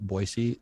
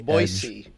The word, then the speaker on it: Boise: but that's very cool are enough californians moving to boise that they pronounce it boise now because i know